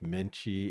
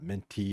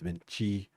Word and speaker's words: mente: But then like some of the words like, the TI is pronounced like a chi. The words that end with like menchi is like not menti, it's menchi.